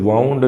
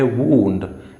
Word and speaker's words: wound: लेकिन एक और जो वर्ड ये है, इसकी प्रोनाउंसिएशन वाउंड नहीं है, ये है वूंड, एंड वूंड का मतलब होता है जख्म।